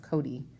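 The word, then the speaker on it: Cote: other hand there was kote pronounced cody she was just about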